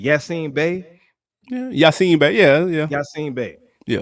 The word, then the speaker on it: Yasiin Bey: Yasiin Bey.